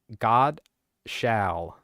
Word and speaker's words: Godshall: Godshall. It's spelled like God shall.